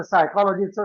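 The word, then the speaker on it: psychology: करून चालणार नाही कारण ते स्पेलिंग स्पेसिफिक आहे ते सायकॉलॉजी आहे पी एस वाय सी एच ओ एल ओ जी वाय आणि त्यातला पी सायलेंट आहे ते नटोरियस शब्द नटोरियस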